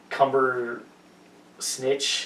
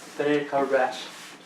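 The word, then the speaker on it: Cumberbatch: was was legit except every time they they said his name they they said it wrong so it was like cumber snitch and just weird like that it's not that hard cber batch all right get it right Ben Benedict batch oh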